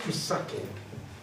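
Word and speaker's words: מתקן: So Adam Rishon is the first Mesaken, Ashkenazi pronunciation.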